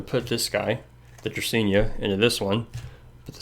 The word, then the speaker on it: Dracaena: Got this here Dracaena. That's how you pronounce it.